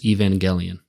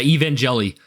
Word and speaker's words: Evangelion: like really wrong yeah people say Evangel and they pronounce it g as J and stuff so it's like yeah yeah evang jelli um yeah um but